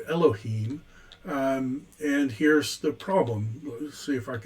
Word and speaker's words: Elohim: in the original recognizes their a problem it's pronounced elohim and here's the problem let me see if